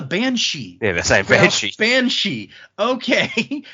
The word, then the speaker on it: banshee: this one creature that it was spelled like bean Sid and it was so long before I realized, oh, that's a banshee.